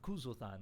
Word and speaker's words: Kuzulthan: I'm sorry, Kuzulthan. Kuzulthan. That's how I pronounce it.